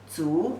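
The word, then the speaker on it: 足: The pronunciation is ziwu, zu, the 2nd tone.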